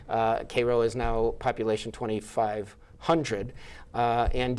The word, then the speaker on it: Cairo: is the mayor of Cairo, Illinois, pronounced Cairo in Illinois, of course, because we do things our own way. Cairo is now population 2,500.